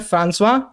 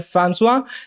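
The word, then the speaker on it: François: ये एक French man थे, इनका प्रोनाउंसिएशन, सही प्रोनाउंसिएशन है फ्रांसवा। बाकी आप चाहे तो फ्रैंकोइस बुलाएं, चाहे तो आप गोड़गोबा, जो आपका मन हो वो बुलाएं, लेकिन इनका प्रोनाउंसिएशन है फ्रांसवा।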